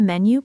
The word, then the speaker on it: menu: into have the and menu has the stress on the first syllable. Menu.